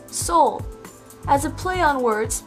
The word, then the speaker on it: Seoul: capital of south korea in english it's pronounced as soul as a play on